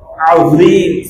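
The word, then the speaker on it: عظيم: আমি এখানে জিম দিয়ে পড়তেছি সুবহানা রাব্বিয়াল আযীম, সুবহানা রাব্বিয়াল আযীম, নাউযুবিল্লাহ, এটা পড়ার অনুমতি নাই। যদি কেউ পড়ে নামাজ ভেঙে যাবে, অনেক কি হয়ে যায়, পরিপূর্ণ চেঞ্জ হয়ে যায়। তো আমাকে এখানে পড়তে হবে সুবহানা রাব্বিয়াল আযীম, সুবহানা রাব্বিয়াল আযীম, আযীম, আইন জ, আইন জ।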